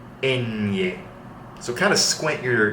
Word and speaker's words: ñ: This is going to be up in your nose, okay? Ñ. So kind of squint your nose like this when you're pronouncing it. Ñ.